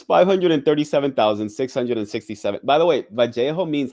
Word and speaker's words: Vallejo: I've said Vallejo, California, right? That's how you say it in Spanish. But some people who are from California are like, oh, you got to say Vallejo. Okay, I'm gonna say Vallejo for this video.